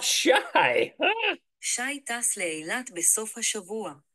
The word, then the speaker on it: שי: And it's pronounced shy.